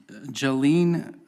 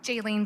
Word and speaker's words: Jaylene: Jolene Valley, or Val? Sorry for the mispronunciation. Did I get it right? No? Thank you. Jolene Valle. Jaylene Valle.